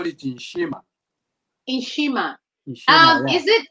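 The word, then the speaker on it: nshima: it so you'd say n s h i m a okay in shima okay right because i'm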